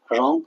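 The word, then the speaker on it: wrong: W silent जब होता है जब आर से पहले आता है। राइट, रॉन्ग, रैप, तीनों में आर से पहले आ रहा है डब्ल्यू, तो राइट, रॉन्ग, रैप, तो रे से ही नाम निकल रहा प्रोनाउंसिएशन।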